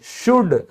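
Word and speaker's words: should: चाहिए चाहिए शुड। तो आपने कभी ध्यान दिया कि यह एल बोला ही नहीं जाता।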